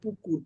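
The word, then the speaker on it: পুকুর: she was talking Pak I said she should pronounce it pukur pukur is in Bali Pond yeah and it's no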